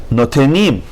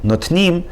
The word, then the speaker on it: notenim: 12, Notenim. No is its own syllable, te is its own syllable, and nim. Notenim, Notenim. Instead of saying notnim, you have to say notenim.